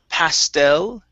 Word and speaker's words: pastel: Next up, we have the word pastel. Stress on the end.